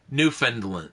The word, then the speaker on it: Newfoundland: But then I realized, yeah, because the way it's spelled, you would kind of say Newfoundland, but nobody pronounces it that way. I've always heard it pronounced Newfoundland.